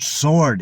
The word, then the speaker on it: sword: sword instead of Sword there's no W sound in the word sword it's like there was no w at all sword so the the lesson